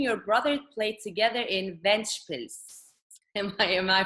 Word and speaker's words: Ventspils: And then after your hometown, you played you and your brother played together in Ventspils. Am I pronouncing it correctly? It's okay, Ventspils, yes.